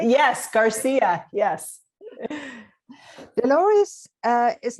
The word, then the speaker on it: Garcia: Do I pronounce it right? Yes, Garcia.